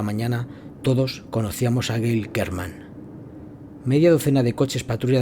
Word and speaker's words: German: Se llamaba Gail German, pronunciado German, y estudiaba arte.